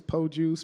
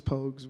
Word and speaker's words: Pogues: the what's the what's the proper way to say Pogues pokes yeah it's po juice Pocus I've heard everything you heard of but it's Pogues man Jamal pokes and